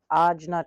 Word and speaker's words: Ajna: Ajna chakra. A j n a. That's how that is spelled.